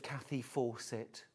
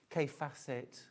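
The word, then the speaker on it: Kaffe Fassett: She said, I love a bit of Kathy Fawcett. Kathy Fawcett, Kay Fassett. But she pronounced it Kathy.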